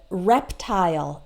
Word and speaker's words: reptile: But there are some words that end in I-L-E which are always pronounced with isle and not ol. Independently of whether the person is American or British. So we always pronounce it like isle in the short words like smile, okay? Pile, tile, as well as reptile and profile, like your Facebook profile, okay?